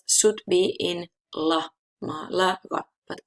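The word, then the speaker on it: Málaga: stress is irregular, it can be on any syllable and we need to mark it with the accent mark. For example, Malaga.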